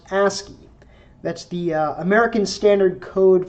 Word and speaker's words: ASCII: And these characters are themselves encoded using a scheme usually pronounced ASCII.